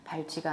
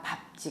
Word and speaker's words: 밟지: 밟지 않고도라고 해야 하는데 지를 발찌로 발음 하였습니다 발찌가 아니라 밥지 맞는 발음입니다 아 뉴스인 경우에 시원하게